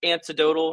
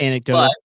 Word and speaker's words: anecdotal: So little antidotal I think. Is that maybe the right way to say it? Anecdotal. Yep. Anecdotal. Um but I mean I